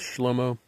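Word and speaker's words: Shlomo: Israel okay now in Hebrew Solomon is often pronounced schlomo and David is David and Israel is Israel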